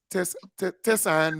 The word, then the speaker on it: Tessan: So, folks, this is Tessan. That's the correct pronunciation.